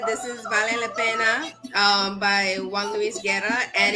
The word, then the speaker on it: vale la pena: The pronunciation is okay? Say it again. I said, Belé La Peña. Vale la pena.